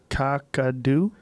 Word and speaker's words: Kakadu: Kakadu.